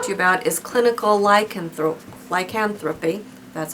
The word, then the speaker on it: lycanthropy: And the last one that I want to talk to you about is clinical lycanthropy.